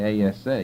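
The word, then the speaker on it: עשה: would spell it in English really ASA you drop the H because it's silent but so you can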